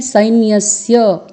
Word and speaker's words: सैन्यस्य: बना है तो आपको यहां उच्चारण करना है साइन यस्य यहां पर यहां पर आप देख रहे हैं अर्ध सत्य है फिर अर्ध ना है उसके पहले तो आपको उच्चारण करना है सैन्यस्य नायक झाल मम सैन्यस्य और फिर संख्या थम